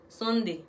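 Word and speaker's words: sundae: Sonde. Il est sonde, S-U-N-D-A-E. Lié, mais nous prononcer comme sonde.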